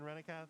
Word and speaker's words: Renath: Can Renath take it back? I keep saying Kath instead of Keth.